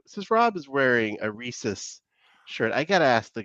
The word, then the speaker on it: Reese's: Go ahead, How do you pronounce that? Both say it out loud. Reese's. Reese's.